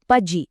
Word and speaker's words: pudgy: इसका सही उच्चारण है पज्जी। पी यू डी जे आई जिसमें पहले सिलेबल मतलब पज पर जोर देना है।